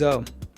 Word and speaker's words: hommes: In French, H typically does nothing. No sound ever. You don't pronounce it. Hotel. But there is a twist. There are actually two types of H. H muet, silent, allows linking, and H aspiré, blocks linking. For example, les hommes, les héros, no linking.